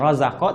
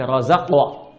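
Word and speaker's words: رزقنا: Mabniun 'ala sukun, ditetapkan dengan sukun karena itu dibacanya sukun, bukan razaqa tapi razaqwa.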